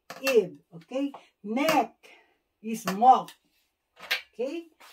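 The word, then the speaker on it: 목: Neck is Mok. Okay? Mok.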